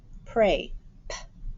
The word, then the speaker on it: prey: y is one sound the y is silent and the e is actually saying a and that's tricky because